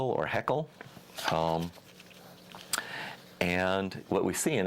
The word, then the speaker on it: Haeckel: And this tree of life was drawn by, I think his name is pronounced Ernst Haeckel or Haeckel.